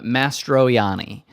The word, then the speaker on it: Mastroianni: Oh no, there's no L. It's Adam Mastroianni.